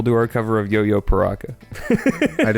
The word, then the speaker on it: Piraka: Pyraka. In the song, they say paraca. They do say paraca in the song. So, that is a canon.